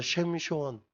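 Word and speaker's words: שמשון: 작은이라는 단어를 붙인 거예요 그래서 셰미션 이게 히브리어 발음 삼손이에요 우리가 이게 작은 태양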